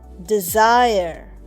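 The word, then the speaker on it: desire: ডি ই এস আই আর ই ডিজায়ার। দেখো ডিজায়ারে ই উচ্চারণ হচ্ছে না। আর তার ই এর আগের যেটা ভাওল সাউন্ড বা ভাওল আই এটা কিন্তু একটু লম্বা উচ্চারণ হচ্ছে। মানে ডিজায়ার।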